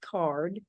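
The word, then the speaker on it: CAURD: let a hundred and fifty applicants it's called card the acronym is c-a-u-r-d pronounced card stands for conditional adult use recreational dispensary license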